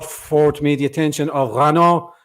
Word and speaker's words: Renaud: me the attention of rano renard camus i hope i'm pronouncing that right yeah yeah renault is fine fantastic um what would